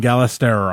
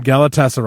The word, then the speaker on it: Galatasaray: Madrid Club Brugge and gala star I thought I said that wrong but gala that's right Galatasaray I knew I said it wrong right away and I took my